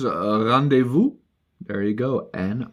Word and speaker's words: rendezvous: How to pronounce rendezvous? There you go. And rendezvous.